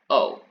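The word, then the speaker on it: を: in an actual sentence it will almost always be used as a participle so you will almost always be pronouncing this as just o instead of whoa now there are a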